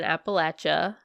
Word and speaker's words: Appalachia: across the United States in Appalachia pronounced correctly thank you to my husband who said I said it wrong and she didn't appellation I said it's Appalachia um um sorry so